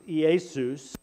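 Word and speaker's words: Ἰησοῦς: The Greek word is actually, if I can pronounce it halfway properly, it's Iesus, is how you would say Jesus in Greek.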